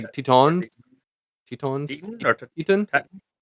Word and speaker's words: Teton: So, we went to Yellowstone and I always say the name wrong. Grant Teen Grant. Some people say Tetons. Tetons.